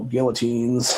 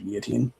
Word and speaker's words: guillotine: And then unfortunately, eventually it became, the whole guillotines, however you want to pronounce them. I think it's actually guillotine. Some people will say guillotine, whatever, it doesn't matter.